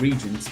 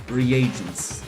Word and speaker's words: reagents: So that's how you pronounce it. I said regents, but well, reagents. It just sounds weird.